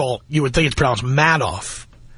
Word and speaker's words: Madoff: you would think sprouts mad off if you pronounces it madoff I think he's sending you a hint Bernie Madoff of my money seriously